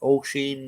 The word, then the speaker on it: Oisin: Oisin and everything they call him, it's Oisin. Tig is another one they can't pronounce.